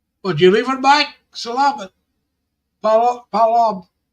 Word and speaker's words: paalam: Palam. Alam. Palam. How do I say it? You say it like in 2 words, like pa, like father.